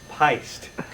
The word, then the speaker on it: Pyst: It's pronounced heist. Okay. It's pronounced heist. Wa. I'm pissed. P Y S T. It rhymes with heist.